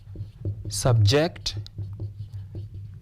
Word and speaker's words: subject: The rule is noun, we stress the first, verb, second. Therefore, do not subject. This word has been used as a verb. Therefore, we stress the second syllable.